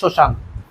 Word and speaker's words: শ্মশান: একটা কথা মনে রাখবা সর্বপ্রথম যদি প্রথম বর্ণের সাথে ম ফালা যুক্ত হয় তাহলে সেই বর্ণের কি হয়? সেই বর্ণের কিন্তু ম ফালা উচ্চারণ হয় না।